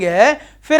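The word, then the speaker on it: half: singular noun which F या एफ I ending है फिर ऐसे प्लूरल बनाना लग गया 80 फ्ट हटा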